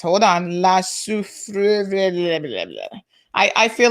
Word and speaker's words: Soufrière: This is how we pronounce it. Pay attention, folks. Soufrière.